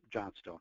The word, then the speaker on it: Johnstone: For some of you, it sounds an awful lot like Flintstone, you know, that Fred Flintstone character and that later movie, The Flintstones. So easy to remember, but it's pronounced Johnstone.